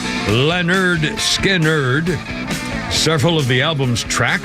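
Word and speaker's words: Lynyrd Skynyrd: here 1973 Leonard Skinner released their debut album pronounced Leonard skiner several of the albums track remain among the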